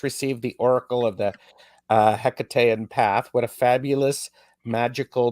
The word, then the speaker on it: Hekate: Yeah, so I mean, I say Hekate, or generally sort of something that's similar intonation. Obviously, the ancient Greek version, there was no hard H, and so it was more like a Hekate sort of sound.